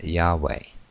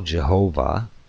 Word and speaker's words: Yahweh: jhwh are also used the most widely accepted prononciation of the tetragrammaton is Yahweh though Jehovah is used in many bibles but in a few modern